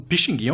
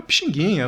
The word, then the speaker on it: Pixinguinha: de pronunciar aqui né pizindim foi abrasileirando facilitando a pronúncia no povo para Pixinguinha né olha só como é que sai mais gostoso né Pixinguinha o menino bom curtidinha